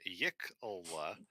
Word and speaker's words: yiklwa: Oh, it's like YKLWA. YKLWA. Yeah, my bad. That explains why I didn't get what I thought I. Yiklwa, pronounced Yiklwa. Simple Okay, so melee I- weapon, tradition of the Chultan or warriors.